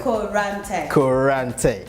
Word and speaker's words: Koranteng: Koranteng. Like tank. Koranteng. Oh, okay. You're Ghanaian, like you have to do Koranteng.